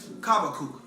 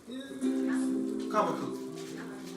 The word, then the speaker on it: Habakkuk: Hebrew is Kabakuk. Kabakuk. You spell that Khabakuk.